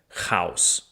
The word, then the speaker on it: хаос: uh in Russian gets translated to a so in English we have chaos and in Russian it's house like Dr. House but not the same thing.